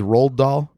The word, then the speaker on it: Roald Dahl: And he goes, "Oh, like how do you pronounce it? Roald Dahl?